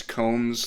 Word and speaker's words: Combs: But his name is Combs, like, a comb you use for your hair.